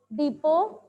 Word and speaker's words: depot: Here when you pronounce this word, so T will be silent. T here will be silent. So AD book depot, Madhupur, Jaipur.